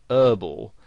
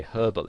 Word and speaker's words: herbal: they would pronounce it whereas in british english you would pronounce the h and you would say herbal essences and you might